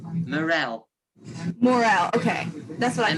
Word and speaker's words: Morell: Morell.